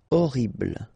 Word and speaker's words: horrible: Okay, remember we don't pronounce H here. Horrible.